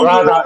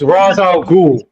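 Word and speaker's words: Ra's al Ghul: First of all, my friend, it's not Raza, it's Raza al Ghul. You need to go and pronounce it properly.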